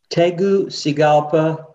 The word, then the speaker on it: Tegucigalpa: Tegucigalpa.